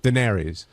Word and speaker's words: Daenerys: How do you pronounce it? Daenerys.